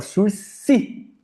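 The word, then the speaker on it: sursis: O surc processual que é a suspensão do processo, pessoal fala surci, é uma palavra em francês, você não pronuncia o s.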